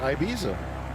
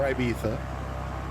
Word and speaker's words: Ibiza: Voyaging CA had a theory about the pronunciation thing, because he reminded me that people in the south and east of Spain tend to pronounce the Z as TH.